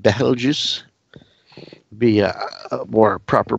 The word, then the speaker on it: Betelgeuse: Beetlejuice, Betelgeuse. I do believe it's more of an Arabic name, so it should be pronounced more like Betelgeuse.